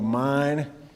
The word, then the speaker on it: Main: It's called the Main. It's pronounced mine and spelled Maine, and I'm a Hoosier, and that did not make one lick of sense to me.